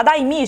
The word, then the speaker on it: Daimi: A Daimi, gente, é assim que pronuncia, porque eu sempre falo o nome dela errado.